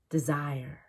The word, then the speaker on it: desire: desire Nobody Does that we have to reduce D to D because zire is not a word desire D doesn't need to be clear because we are not trying to express the opposite of zire Department Department deposit deposit